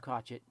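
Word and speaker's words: Crochet: And yes, it's pronounced Crotchet.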